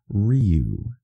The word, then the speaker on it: Ryu: Street Fighter yes it is and also it's pronounced Ryu all right what is the the demon reek